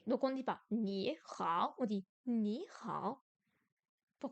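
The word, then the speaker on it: 你好: Remarque, sur les tons, lorsque deux tons bas se suivent, la première syllabe devient un ton montant. 你好 Ni hao, ni hao.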